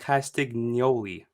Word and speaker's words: Castagnoli: the necklace because he he pronounces his name like castignoli like you hear the